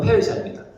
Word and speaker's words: 페르시아: 요즘 발음으로 페르시아입니다.